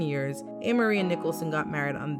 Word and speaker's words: Ameriie: But the pronunciation of her name hasn't changed, just the spelling. The following year in June, after dating for 7 years, Ameriie and Nicholson got married